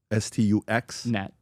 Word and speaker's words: Stuxnet: Is that how it's pronounced? S-T-U-X? S-T-U-X? Net.